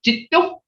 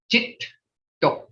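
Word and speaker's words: geddo: So when you have a double consonant like Jito, G-E-D-D-O, you got to pronounce both consonants. Jito.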